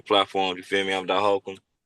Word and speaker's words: Dot Hawkem: So, yeah, I'm Dot Hakum. On Instagram it's spelled d o t then it's a period h a w k underscore e m. And then I'm on Facebook, too, Dot Hakum.